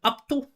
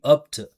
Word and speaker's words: up to: It's got to be up to up to, right? And not to to, right? Up to. It's not to, it's to.